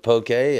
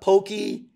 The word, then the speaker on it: poke: seven different kinds of Pokey and yeah and God bless you for pronouncing it correctly poke it's yeah it's not Pokey it's not spelled p Ki it's p k e it's poke thank you for that